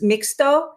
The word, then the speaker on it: mixto: love and it probably was and i'm gonna pronounce this wrong mix mixto tequila is that right that's right yes yeah